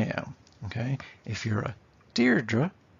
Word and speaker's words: Deirdre: it's an i am okay if you're a deirdre it's a trookie so uh why does any